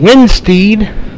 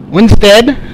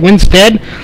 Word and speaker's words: Winstead: gonna be Dustin Sizemore Brandon windspeed Winstead it's how he pronounces it Winstead Brad Dyer and Carson